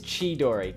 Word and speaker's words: Chidori: I pronounced your name Kidori because I'm Italian. And in Italian, the CH sound is pronounced K. Like Christina. My got a relative's name who's Christina. That's yeah. Anyway, yeah. So I hope it is pronounced Ki-Dori, not Chi-Dori. It's Chi-Dori.